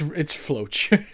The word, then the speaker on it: Floch: Flock? I think it's Flock. I think Floch. I think I say Floch. I forget. Floch. What do we? It's Floch.